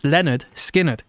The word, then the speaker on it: Lynyrd Skynyrd: Lynyrd Skynyrd, pronounced Lynyrd Skynyrd, was the record we listened to.